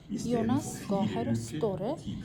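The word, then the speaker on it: Gahr Støre: উনার নাম হচ্ছে জোনাস গাহের স্তরে এবং যদি নরয়েজিয়ান ভাষায় বলি সেক্ষেত্রে উচ্চারণটা হবে ঠিক গাহের স্তরে যেহেতু নরজিয়ান অ্যালফাবেটিক জ বা যে কোন উচ্চারণ নেই ওরা যেটাকে ইয়ে হিসেবে উচ্চারণ করে তো যাই হোক এটা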